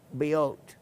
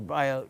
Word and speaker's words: Biot: It was named in 1847 in honor of the French physicist and miner, Jean Biot, or Biot, however you want to pronounce that, 1774 to 1862.